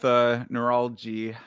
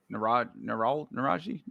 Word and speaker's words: Naraji: I'll go with Neuralji. Naraji. There's no L there. Naraji.